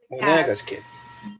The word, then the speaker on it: Monegasque: Sorry, teacher, how do I pronounce Monegasque? Monegasque.